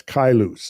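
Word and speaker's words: Caelus: the figures of uh that's kailus is how that's pronounced in the figures of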